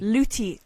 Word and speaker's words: Luty: Are you saying Louis or Luty? Luty. L-U-T-Y. Luty. Luty. Like lute? Like a lute, like the instrument?